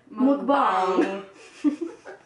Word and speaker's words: mukbang: But maybe that sound bite was just like very slowed down so that you could really get the whole pronunciation. But really you say it faster and it's like mukbang.